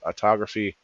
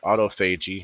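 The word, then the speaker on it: autophagy: Autography might be saying that right. I'm sorry. Autoagi. I'm saying it. I've been saying it wrong.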